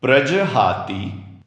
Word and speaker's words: प्रजहाति: दोस्तों ध्यान दीजिए प्रजहाति में ती की मात्रा छोटी वाली रहस्व है और इसलिए ती के बाद यदा का य हम तुरंत ही बोल रहे हैं।